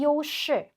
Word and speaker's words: 优势: 그래서 요시 하게 되면은 우세입니다.